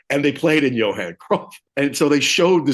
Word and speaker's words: Cruyff: first time to Johan Cruyff, and it is pronounced Cruyff. The opening band Architects, the lead singer said Johan Cruyff, and I don't think that's right. I think it's actually Cruyff.